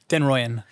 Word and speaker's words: den Rooijen: how do you pronounce your family name? Denroyan.